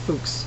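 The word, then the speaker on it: Fuchs: increased the klous case I know it's probably pronounced fuks but I just like calling uh the clous fox case which was mentioned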